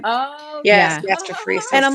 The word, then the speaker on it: gastroparesis: talking about the gastric um what's it called gastroparesis am I saying it right oh yes gastroparesis and I'm like we've always known that was